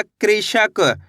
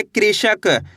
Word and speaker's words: कृषक: का में री की मात्रा क्री, श, क, तो मिलके बन जाएगा कृषक। कैसे पढ़ेंगे? कृषक।